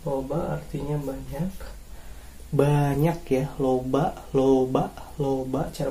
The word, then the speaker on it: loba: Kemudian ada juga ini loba ya. Loba artinya banyak ya. Loba artinya banyak. Banyak ya, loba. Cara bacanya loba artinya banyak.